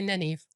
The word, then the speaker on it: Nynaeve: That's close. I say Nynaeve. I'll go with it. There we go. It's spelled funny.